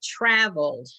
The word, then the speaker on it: traveled: That's the L sound, is the consonant sound, and you're pronouncing it in travel. Travel. Traveled. Travel. And so you're just going to add, whoops, you're going to add the D sound.